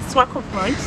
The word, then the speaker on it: Swakopmund: Yeah, Swakopmund.